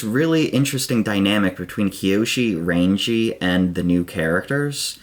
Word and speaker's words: Rangi: Her name's actually pronounced Rangi.